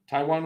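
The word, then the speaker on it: Taijuan: against how do you say his first name Taiwan Taiwan Walker yeah Taiwan Walker Walker's got an RA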